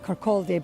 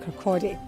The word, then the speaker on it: Kirkcaldy: The spelling of Kirkcaldy, I have no idea why it has an L in it. My mother's English from Hull, and she still sometimes says Kirkcaldy, but it is pronounced Kirkcaldy.